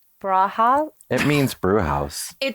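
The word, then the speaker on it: Brauhaus: say that brow house i think it's brau right yeah braha it means brew house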